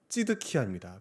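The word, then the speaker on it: צדקיה: 이 시드기야를 히브리어로 발음하면 찌드키야입니다.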